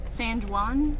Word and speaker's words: San Juan: San Juan or San Juan? The J is pronounced with as a W. Oh, San it's Spanish. Juan.